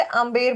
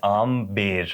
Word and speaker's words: Amber: और कई लोग इसे अंबेर बोलते हैं what is the correct thing so correct is a little in the middle it's आम बेर I mean the बी इज not silent there is a stress